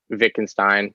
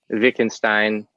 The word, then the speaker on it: Wittgenstein: I've heard Wittgenstein. I've heard Wittgenstein. I've heard Wittgenstein, like where you just put them all together in one Hmm. um, syllable, which I cannot quite